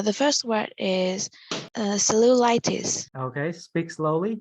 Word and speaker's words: cellulitis: so it's so loose see how my first two syllable I'm flat here and then the third one I'm upsell Lou like cellulitis good so cellulite good all right not salute light okay that means like